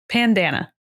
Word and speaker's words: Pandana: I'm assuming that's how you say it. Pandana. Like bandana. But with a P.